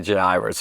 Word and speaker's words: Jairus: guy named jairus really in the greek the j isn't isn't you know it's not there it's um i'll probably say jay iris or i'm used to